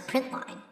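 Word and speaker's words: println: print and print Ln print Ln which we pronounce print line will go to the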